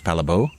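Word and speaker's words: Palle Bo: name when I say that my name is Pala people always lean in and say oh sorry what of course uh more if I say my name is palabo it's like okay that rolls off the tongue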